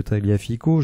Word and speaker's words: Tagliafico: on peut noter que taliafico que l'on devrait prononcer taliafic et bien a un